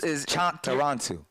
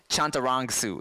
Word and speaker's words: Chantarangsu: I've been it's Chantarangsu. It's you're like 90%. You're so close. See, when I say it fast, I was Tim Chantarangsu. So it's Chantarangsu.